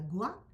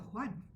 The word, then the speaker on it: Juan: No se pronuncia Gua, sino Juan.